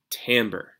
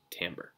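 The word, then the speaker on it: timbre: different instrument and that takes us finally to Tambor it's spelled Tim breath but it's pronounced Tambor and Tambor is the is the key to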